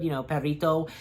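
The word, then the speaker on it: Perrito: I don't know, it's Perito. I think I'm pretty sure that I have been saying it good, Perito.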